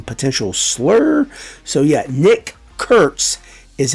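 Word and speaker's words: Kurtz: Well, that's actually how the athletics announcers have been told to say his name because it would evoke some potential slur. So yeah, Nick Curts is how we are going to say his name.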